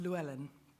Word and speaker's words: Llewellyn: particularly but it's pronounced luellin um it is actually Welsh uh I have worked